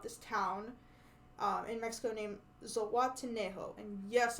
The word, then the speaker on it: Zihuatanejo: town in Mexico named Zihuatanejo. And yes, I wrote that how it sounds and not how it's spelled. But Zihuatanejo, how he wants to live there when he finally escapes.